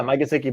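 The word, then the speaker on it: Mike Gesicki: they have parker they have wolf fuller uh mikasiki they're tied in uh what's his name oh you said it right yeah yeah mike sicky but uh the running back uh gaskin so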